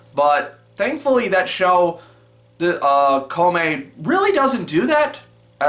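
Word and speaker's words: Kōmei: It's spelled Kongming in the localized version for some reason, but I believe it's pronounced Kome based on what I've been hearing from the anime.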